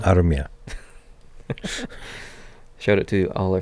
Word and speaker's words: Armia: I do like Joel Armia. Armia. Shout out to all our Finnish viewers for pronouncing that correctly.